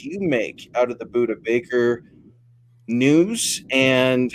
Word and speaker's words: Budda Baker: What about how's it pronounced? Budda Baker, right? Yeah, Budda Baker, yeah.